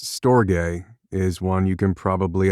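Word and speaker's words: storge: S T O R G E pronounced stoay is one you can probably identify with.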